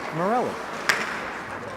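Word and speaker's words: Morley: I did check beforehand we went over the pronunciations and I was told it's Morelli Scot trying to get to that one first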